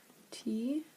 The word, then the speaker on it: Thiebaud: Thiebaud.